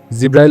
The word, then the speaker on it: জিব্রাইল: জিব্রাইল আলাইহিস সালামের নাম ও মর্যাদা সম্পর্কে তোমাদেরকে বলি নামের বিভিন্ন উচ্চারণ আছে জিব্রাইল জিব্রাইল জিব্রাইল ইত্যাদি জিব্রাইল শব্দের ব্যাখ্যা করেছেন